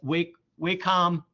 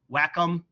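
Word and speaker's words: Wacom: Uh, if you're here on campus at these great computers, we have what's called a wakecom whackom, depends on who you are, how you say it, uh, stylus pad, and that will be your mouse.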